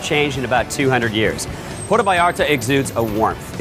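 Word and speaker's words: Puerto Vallarta: Mexican beach destination welcome to PTO Barta or as the locals say Porto Barta sure they've got world-class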